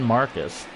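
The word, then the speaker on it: Márquez: marquez marcus hermann marcus hermann it's marcus new one for me i don't i watch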